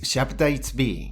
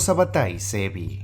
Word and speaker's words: Sabbatai Zevi: generación de fieles si bien la pronunciación correcta del nombre de este personaje es shap be en el trans curso de este video Será mencionado como sabbatai sebi una forma que ha sido ampliamente aceptada para pronunciar su nombre sabbatai sebi nació en